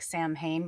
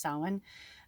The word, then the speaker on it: Samhain: ever saw the word it looks like samhain but it's pronounced sawin um day you know